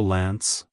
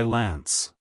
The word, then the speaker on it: Lance: at the beginning and pronounce the a as in ant then the n and S sounds follow smoothly like hello Lance goodbye Lance if you found the